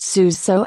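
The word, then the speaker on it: Sousé: remind people in exasperation that his name is pronounced Suzhou accent grave sick over the e because people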